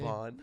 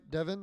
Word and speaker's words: Devin: Devon. Yeah, they say Devon. I'm like, Devin.